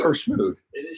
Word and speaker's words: Schmude: Is it Schmoody or Smooth? It is Schmude.